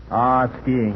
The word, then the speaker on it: skiing: Skiing. You know, there's some question about the way the word's pronounced, skiing or sheeing, but I'm not worried.